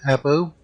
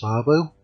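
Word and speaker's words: Åbo: Some people might call it Abo. I believe it's pronounced Arbo.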